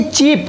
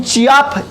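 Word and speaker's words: cheap: ऐसे ये चीप, चीप मतलब सस्ता, तो चीप देखिए, चीप ई आ रहा है चीप, लेकिन चियाप ए तो नहीं आ रहा, तो यहां पे भी ए क्या है हमारा, साइलेंट है।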